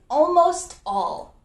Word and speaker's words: almost all: The final way we can use almost is almost all. Almost all. And in this one, the T is pronounced.